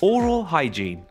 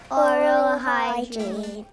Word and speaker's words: hygiene: You say oral hygiene. Oral hygiene.